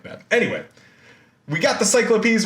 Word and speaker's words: cyclopes: of triplets are the cyclopes right so i'm not like mispronouncing cyclopses just in greek like the plural of cyclops ends up being cyclopes so there you go